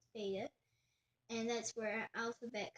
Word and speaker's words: beta: So it's alpha and beta. I was about to say bet, but it's beta.